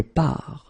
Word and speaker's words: pars: Remember, you put this S, you don't pronounce it. Je pars.